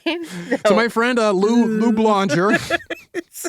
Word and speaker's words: Blonger: Lou Blonger. Rhymes, is a Wild West rhymes with conjure.